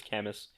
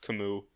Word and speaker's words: Camus: canvas archetype I've always referred to him as Camas but it is canonically pronounced Camus because of Heroes God I really wish it